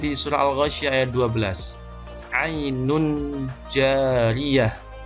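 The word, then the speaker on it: عين جارية: Kemudian di surah Al-Ghasyiyah ayat 12, ainun jariyah, membacanya ainun jariyah, jadi menyamarkan bunyi n dengan jim, ainun jariyah, bukan ainun jariyah.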